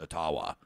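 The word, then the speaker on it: Ottawa: He says, "Until an Elgangquin elder reached out to him with an email and said, you know, it actually is pronounced atawa."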